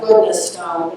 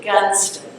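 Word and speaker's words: Goodnestone: It looks like goodness stone, but they pronounce it Gunston.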